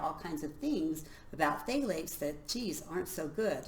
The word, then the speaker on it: phthalates: And along with that are phthalates. It's spelled PTH, right? Phthalates.